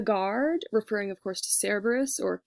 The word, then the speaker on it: Cerberus: referring of course to Cerberus or care Bruce as we would pronounce it in Latin and then supposed to